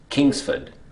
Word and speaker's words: Kingsford: The correct pronunciation of this is Kingsford.